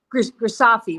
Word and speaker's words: Grisafi: Grisafi rhymes with coffee.